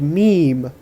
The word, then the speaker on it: Meme: It's spelled the way you think. It is pronounced the way you think. The man is named Meme.